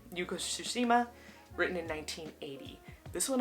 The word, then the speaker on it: Yuko Tsushima: Next we have Woman Running in the Mountains by Yuko, I want to make sure I say her name right, Yuko Tsushima. Yuko Tsushima, written in 1980.